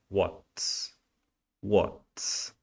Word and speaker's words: what's: que tá sendo perguntado whats whats não é What nem Whats nem WhatsApp ok é whats whats What the the the